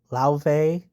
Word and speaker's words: Laufey: Next is Laufey's Lauve Laufey. I have a hard time pronouncing her name because she's Icelandic, but I'm pretty sure it's Lauve.